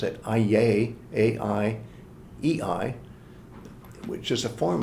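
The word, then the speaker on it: αἰεί: And that's why in the ancient Greek language, the so-called locative of Aiōn, and I'll pronounce it Aiei, A-I-E-I, which is a form of Aiōn, is the ordinary way that people say forever.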